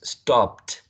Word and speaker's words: stopped: past participle stopped stopped so the rule applies here's top ends in stop right stop ends in which is a voiceless consonant sound then if you're having the past tense marker right for this one it has to be that 2 because 2 is voiceless consonant sounds well just like per